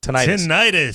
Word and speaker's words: tinnitus: Sal is trying to put together some events to aid in the, how do you pronounce it? It's tinnitus.